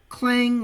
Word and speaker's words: Clang: I'll actually allow people on the server to use clang if they wish because they pretty much clang which is spelled hang on as in c lang.